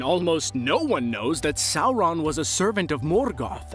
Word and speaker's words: Sauron: the rings video for the way that i pronounced sauron but i just want to let you guys know that's how you pronounce it it's not sauron okay so sauron is often referred to on lists of the